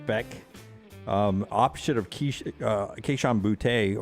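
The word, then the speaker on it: Bech: herb street thinks uh did you pronounce his last name beck b-e-c-h receiver at lsu jack beck um option of uh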